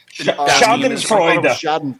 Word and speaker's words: Schadenfreude: Is that how you say it? That German, like... Schadenfreude. Schadenfreude. Schadenfreude. Right? Yeah, there you go.